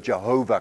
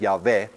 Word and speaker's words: Yahweh: There is only one God, and that's where the word Jehovah comes from, which is what I told you before, is actually a wrong pronunciation of the word Yahweh.